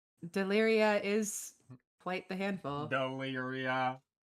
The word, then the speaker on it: Daelearia: Daelearia. Four whole syllables of what?